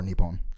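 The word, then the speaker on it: 日本: Japan is pronounced Nihon or Nippon. Why?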